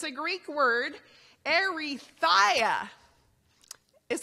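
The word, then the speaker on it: ἐριθεία: It's a Greek word, erythia is how you pronounce it.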